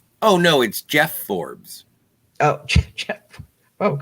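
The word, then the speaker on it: Geoff: with a g jeff it is g-e-o-f-f that is how i say jeff j-e-f-f g-e-o-f-f okay i'm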